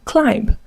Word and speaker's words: climb: Dear students, do not pronounce these common English words as bomb, womb, comb, or climb. This is because the B are absolutely silent.